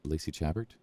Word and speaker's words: Chabert: Lacey Chabert. I always want to say Chabert, but I think it's Chabert.